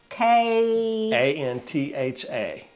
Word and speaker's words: kantha: You want to spell that for people? K A N T H A Okay.